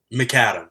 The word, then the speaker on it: Macadam: Macadam.